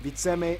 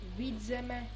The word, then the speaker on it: Vidzeme: Hey, I know You mispronounced all of them. I know there's gonna be a lot of mispronouncing, but it's Kurzeme, Zemgale, Latgale, Vidzeme, and Periga. Pieriga. Not Perigale.